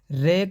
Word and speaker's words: र: र का उच्चारण करते समय जीवा में कंपन होता है। अतः इसे प्रकंपत व्यंजन कहते हैं दोस्तों।